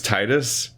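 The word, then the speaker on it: Tidus: it Greek that's why his name is titus like tied so it's even though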